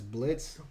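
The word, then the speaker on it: Blitzø: brandon rogers is as blitz the o is silent richard steven horvitz i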